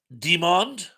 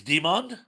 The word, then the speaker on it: Demond Wilson: Uh, Indy Spout says that's Demond. It's not Desmond, it's Demond.